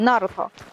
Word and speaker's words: Naruto: the stress, because like in Russian they say either Naruto or Naruto, but when I watched in the Japanese version, they have like two stresses on the first syllable and on the last syllable, and it sounds like Naruto. Naruto. So it's the first one, Naruto.